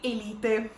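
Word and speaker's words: Élite: sa, che è Elite, o come la pronunciano gli attori, Elite.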